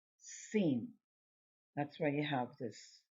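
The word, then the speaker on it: שׂ: the left side of the letter it is pronounced scene that's why you have this little reminder sh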